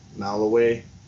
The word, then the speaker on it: Malawi: Malawi.